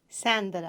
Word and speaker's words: Sandra: Sandra.